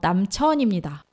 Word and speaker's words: 남천: 남친이 아니고요. 남천입니다. 오늘 이상하게 남친이라고 들린다면 그건 제가 발음을 잘못한 겁니다.